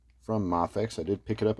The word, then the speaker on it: Mafex: first ever mafix uh some saying mayx uh I believe the proper pronunciation is mafex but you know tomato